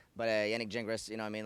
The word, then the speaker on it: Yannick Gingras: Like if you said it like really from French, it'd be Yannick Gingras. That'd be no S. But Yannick Gingras, you know what I mean?